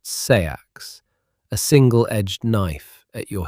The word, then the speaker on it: seax: You also carry a seax, pronounced sayax, a single-edged knife at your hip.